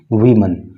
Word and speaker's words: women: देखिए, आपके प्रोनाउंसिएशन के लिए एक चीज़ क्लियर कर दूं कि WOMEN होता है तो ये प्लूरल होता है और ये इसको पढ़ते हैं वीमन।